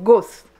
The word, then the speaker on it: गोश्त: गोट भी बोलते हैं, तो इसको क्या घोस्ट, घोस्ट नहीं गोश्त।